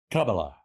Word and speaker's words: Kamala: We have, so the official pronunciation of the Kamala is Kamala.